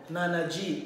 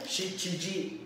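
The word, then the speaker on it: 七時: Okay, sa pagkakataon pong ito, wala po tayong nana G. Wala pong ganon. Okay? So, ang tamang pronunciation na po niyan ay shichi G.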